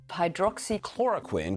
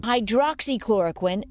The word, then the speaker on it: hydroxychloroquine: few weeks we've been hearing these six syllables over and over again hydroxychloroquine hydroxychloroquine i happen to be